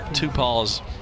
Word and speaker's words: Tupal: I'm going to give you a Tupal's. It is Tupal on the pronunciation.